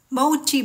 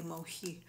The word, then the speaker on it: mochi: try natin itong Mochi yan daw yung pronounciation ng mosi kasi ang pagpronounce ko sa kanya dati mohi pero mali pala yun Mochi pala try natin kung anong